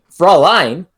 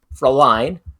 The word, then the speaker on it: Fräulein: So, basically, Froline. How do you pronounce that, Abby? Fräulein. Fräulein.